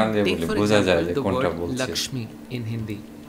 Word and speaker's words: Lakshmi: for example the word Lakshmi in Hindi. This word is pronounced as Lokhi in Bangla.